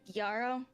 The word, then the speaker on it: Gyaru: Akko is, how do you pronounce it? Gyaro? Gyaru, yes. Gyaru. Gyaru is, I believe, the correct pronunciation.